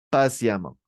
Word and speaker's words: patiemment: notre deuxè exemple et ça c'est patient la prononciation comment patiemment ah génial patiemment et ici ça c'est